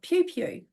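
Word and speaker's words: Piopio: country in New Zealand in a place called Pew Pew, which is spelled P I O P I O.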